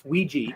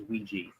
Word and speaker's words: Ouija: not Ouija Ouija it it's a it's Ouiji that's the the actual pronunciation for it okay there there